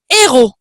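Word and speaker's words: ἥρως: nous renvoie aux siens au mot grec héros alors ça s'écrit pas comment notre mot héros un héros mais ça se prononce exactement pareil antoine est là là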